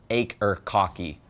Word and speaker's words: Akercocke: and yes the band name is pronounced acre kaki which means your dick hurts in satanic alright but seriously acre kaki were formed in 1997 in London England admittedly